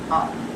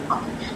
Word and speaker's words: hour: I should be back within the hour. Now can you notice I've said within the hour. Here, though this next word R is starting with the H consonant, we do not pronounce the H.